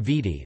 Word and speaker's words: Viti: Fiji main island is known as Vidi Levu, and it is from this that the